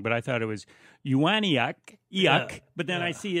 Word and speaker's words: Ewanuick: Because I've always said Fred Ewanuick. But yeah, that's wrong, isn't it? Well, yeah, but it's we pronounce it Ewanuick. Ewanuick.